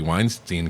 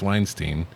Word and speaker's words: Weinstein: movie opens with the Weinstein Company logo. I Fun. don't know why it's pronounced Weinstein, since it's two syllables that are spelled the same way. That's always bothered me. It should be Weinstein.